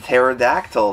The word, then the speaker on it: pterodactyl: and its tubular to pterodactyl fare that focus the P is silent amazing condition on this